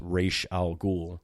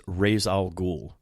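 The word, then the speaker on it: Ra's al Ghul: good but his pronunciation is the name is pronounced R Al ghoul so I never you know when it's r a apostrophe s and you know I'm a young kid I always saw his name as razal ghoul right I always saw it as r a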